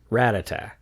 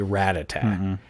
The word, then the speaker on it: Rattata: purple mouse creature and it pronounces its name rat tata rattata again the pokey rap leads to inconsistencies pronouncing it rattata again we discredit the poke wrap and consider the correct